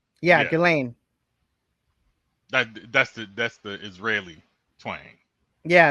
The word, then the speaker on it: Ghislaine: But yeah, he was considering pardon Ghislaine Maxwell, and now he is walking that back.